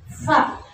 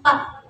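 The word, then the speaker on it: ف: jangan lupa ada titik kemudian Fa Bukan PA Bukan pengucapannya Bukan PA ya tapi fa fa fa fa ya bukan pa ya bukan peyum ya tapi fa pe Fa gitu ya Fa Jadi pendek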